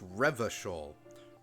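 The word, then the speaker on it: Revachol: 28 up here already revishol is pronounced reversal iran ye is pronounced as oranje classy is pronounced classy yes we get it the j's are kind of dutch this door is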